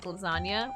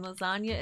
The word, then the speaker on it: lasagna: I like it because English is not my first language and it taught me that the G in lasagna is silent.